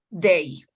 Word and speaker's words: they: En cuanto a la pronunciación, cuando haya una TH, siempre tenemos que pronunciarla así. They. Mostrando la lengua, ¿no?